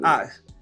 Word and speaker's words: AVX: I like the spelling of your name, AVX, but it's pronounced Ox.